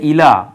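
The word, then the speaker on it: إلى: ঘুরাও পুনরায় ফিরে আসবে ঘুরে যাবে উল্টে আসবে ইলাইকা আরবিতে একটা যেমন ইংরেজিতে আমরা প্রিপজিশন ব্যবহার করি আরবিতে এই প্রিপজিশন কে বলা হয় হরফে জার হরফে জারের মধ্যে এই যে ইলা ইলা একটা হরফে জার ইলা অর্থ হচ্ছে দিকে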